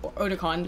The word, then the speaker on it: Otakon: Sean Haruki for 2 says, Otakon is my con of, Otakon is how it's actually pronounced.